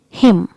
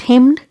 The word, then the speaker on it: hymn: Another word is hymn. It's not hymned. Here letter N is silent, so we pronounce it like hymn. Hymn. As we pronounce him, H-I-M, in the same way we pronounce this word also like him, not hymned.